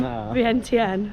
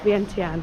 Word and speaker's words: Vientiane: It is officially our last full day in Laos and our first full day in Vientiane. I think that's how you say it, Vientiane.